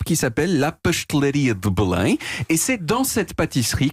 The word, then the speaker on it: Belém: Voilà, qu'on prononce en portugais Belém. Belém.